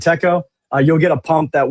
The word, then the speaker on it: TECO: And then if you buy any Teco or Tiko chill, guys, however you want to say that one, that's on you. Uh, I pronounce it Teco.